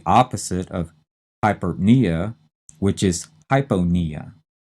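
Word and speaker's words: hypopnea: hyponia e h-y-p-o-p-n-e-a and notice that hyponea we're not saying the p in that second syllable we're leaving it out hypo is said quickly we're used to saying it that way we stress knee and this is abnormally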